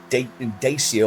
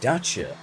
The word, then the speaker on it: Dacia: Seems I've been saying Dacia all wrong. It's apparently pronounced daca.